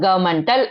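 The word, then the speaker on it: governmental: eddy மெண்டல் கவர்னமெண்டல் அதாவது அந்த என் வந்து சைலண்டா உச்சரிப்போம் ஓகேவா கவர்மெண்டல் அப்படின்னு உச்சரிப்போம் நான் ஸ்பெல்லிங் சொல் கவர்னமெண்டல்ு சொன்னேன் உச்சரிக்கும் போது கவர்மெண்டல் பினான்சியல் fஐ எசிஐல்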